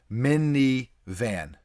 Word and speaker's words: MNVN: it's an mvn thing mnvn mini van there you go you're not a minivan